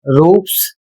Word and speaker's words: roofs: तो यहां पर देखिए जैसे लिखा हुआ है ROOFS, इसे पढ़ा जाएगा रूप्स, और इसका अर्थ होता है छत।